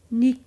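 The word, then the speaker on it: nihil: in Latin is that H is actually um pronounced as a k Nik and there's another Latin word m i i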